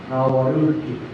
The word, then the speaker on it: Nawaruki: Makes it a little easier to say. Nawaruki. You can put the tap, Nawaruki, but it's really easier to put an N sound.